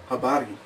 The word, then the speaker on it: habari: And keep in mind all R's are rolled in Swahili, so if you don't know how to roll your R's, you're probably going to want to learn how to do that. They'd say habari.